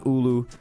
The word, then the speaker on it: Aloo: Aloo, pronounced ulu, which uh seems to